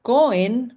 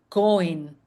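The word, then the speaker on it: כהן: Y en hebreo la palabra para sacerdote es cohen o cohen, como usted lo lee ahí, se pronuncia cojen, creo yo.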